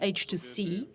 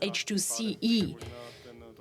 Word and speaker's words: H2CE: It's not pronounced H2C, although it might be interesting. It's pronounced H2CE. And now it may be clearer already, because it's hydrogen in CE, in Central Europe.